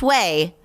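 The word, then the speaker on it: OUAI: the clarifying detox shampoo from away pronounced way spelled o-u-a-i uh i have so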